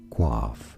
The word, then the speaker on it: coiffe: Coiffe is how you say it. From French, it is coiffe.